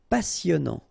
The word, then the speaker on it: passionnant: méchant méchant excellent excellent excellent passionnant fin not pronounced passionnant cher à la mode final e not pronounc